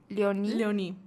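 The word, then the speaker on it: Léonie: Carmelo y su hermana Leonie, ¿cómo se pronuncia? Leoní.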